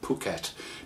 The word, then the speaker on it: Phuket: how do you pronounce Phuket well that's how you pronounce it Phuket pH is an explosive P and is I have